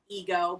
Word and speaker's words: Eggoh: pronounced Ego, but his name is spelled Eggoh, and it teaches kids about it's not all about me.